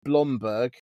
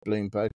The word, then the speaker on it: Blomberg: In fact, I've got a Beko washing machine, and Beko is is part of a stable of brands including Grundig, Blomberg, not Bloomberg, Blomberg, and Singer.